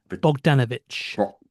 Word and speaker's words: Bogdanovich: Um, so how do you pronounce it again? Bogdanovich. Bogdanovich.